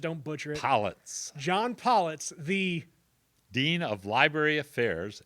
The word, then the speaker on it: Pollitz: john pronounced your last name one more time so i just don't butcher it collets john pollits the dean of library affairs at southern illinois